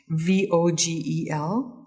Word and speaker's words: Vogel: Pat knit this, and it's a pattern by Edmontonian Christine Vogel, or Vogel. I like to pronounce it with an F because it's the German pronunciation. Vogel.